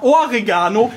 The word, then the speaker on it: Oregano: Es ist ganz klar Oregano mit Betonung auf dem Ohr.